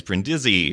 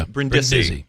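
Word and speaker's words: Brindisi: People would emphasize Brendy or And then Brendi. Yeah. And you clarified it was Brendi.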